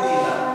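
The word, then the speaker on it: χ: melewati batas baw k Nah ada bunyinya itu seperti si k si itu mirip-mirip tapi harus diingat Ki itu ini itu CH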